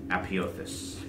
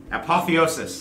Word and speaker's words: apotheosis: more and more power readying for some distance apiotheus apotheosis sorry mispronouncing the own big words i picked apotheosis